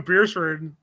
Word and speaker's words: Beresford: flag, and they're like, "It's pronounced bear." Okay, it's like I'm from Beersford, and it's spelled not how you think.